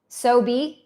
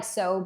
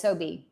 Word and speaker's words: SoBe: Sobe. Okay, so it's not like sobe, like robe. Okay, it's Sobe.